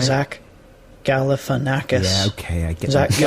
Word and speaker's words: Galifianakis: of some commonly mispronounced words here he is pronouncing zack galifianakis for you zach galifianakis yeah all right zach galifianakis yeah okay i guess exactly all right i